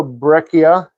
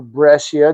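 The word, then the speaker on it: breccia: Here is a uh here's kind of a brechia or brcia depending on what side of the country you're from.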